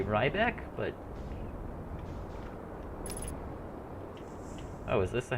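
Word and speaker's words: Riebeck: it right back like I heard people pronounce it Ryback and that and they were acting like it's right and nobody was questioning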